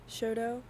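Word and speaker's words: Shxtou: Um, I watch Shodo or that's how you're supposed to say his name, but it's spelled S HX T O U.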